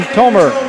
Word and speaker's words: Thomer: Driving in, hanging, friendly roll for Landon Thomer. I got it, friends. The H is silent.